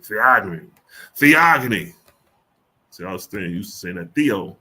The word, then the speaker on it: Theogony: familiar with let's see how you say this theogony all right theogony the agony see I used to saying that